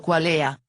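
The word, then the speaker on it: qualia: rima con parlay y cualia latín plural pronunciado cualea para rimar con la deda Cuando veo o percibo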